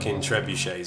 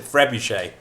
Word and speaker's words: trebuchet: Yeah, that's why every say time I say it, I pronounce it trebuche.